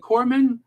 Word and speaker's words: corpsman: medically retired Navy Corps is it corpsman yeah you pronounce it Corman right black queen uh